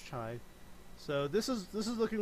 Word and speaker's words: Chi: This is pronounced Chi.